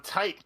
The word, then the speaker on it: Tite: Yeah, because it's written out in katakana as Taito. So yeah, it's tight Kubo.